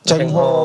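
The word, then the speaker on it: Zheng He: Cengho. Chengho. Iya. Membawa. Enggak. Enggak ada ceng ya sebetulnya di sana ceng dibacanya.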